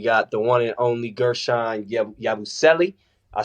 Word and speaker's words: Guerschon Yabusele: 30 MVP we got the one and only Gershon yabuselli I said that right right yeah you said